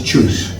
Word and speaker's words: Txus: It's choose. Choose. Okay, Yeah, so like I know. The written word is a TXUS. TX. And you pronunciate it as the English verb to choose between A and B.